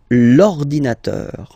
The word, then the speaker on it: l'ordinateur: you can see that it starts with the vowel O, okay? And as I said, you know, E and O, they don't get along that well, so you've got to take this E away, and then you get this l'ordinateur, l'ordinateur, all right?